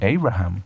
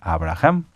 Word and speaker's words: Abraham: hay hay muchos muchas a pesar de que en Estados Unidos en otros lugares se pueda pronunciar el nombre de alguna manera como adaptado no se traduce Pueden decir Abraham verdad Pero el nombre es Abraham Ese es el nombre